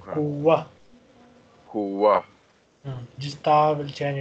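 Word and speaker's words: قُوَّة: On normal occasion, we say kuwatan, but when this word is at the end of a sentence or when we stop here, I will say kuwa.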